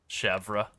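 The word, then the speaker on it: chèvre: I will not attempt to Frenchly pronounce it. Which cheese? Chev. Oh, chevra. I'm going to pronounce every single one of the letters in defiance of the French.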